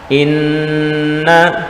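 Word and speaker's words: إِنَّ: Inna, ya, nunnya di tasdid dan didengungkan. Inna ditahan. Setiap nun yang bertasdid atau mim yang bertasdid dihukumi bacaan gunnah musaddadah dan kita tahan. Inna tidak langsung dilepas. Innallaha, nah itu kecepatan, harus ditahan sejenak. Innallaha, ya, bukan innallaha, nah itu kurang gunnahnya.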